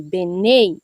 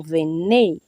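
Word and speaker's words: בני: Eu pronunciei Benei, não venei por causa dos sinaiséticos, tá? Mas venei e benei são as mesmas palavras, filho, tá?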